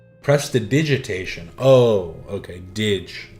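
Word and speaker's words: prestidigitation: Pronunciation. Press the digitation. Press the digitation. Oh, okay. Dig, not dig. Press to digitation.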